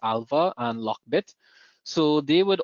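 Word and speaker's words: ALPHV: Um but basically they were focusing on Alpha which is spelled Alpha V but it's pronounced Alpha and Lockbit.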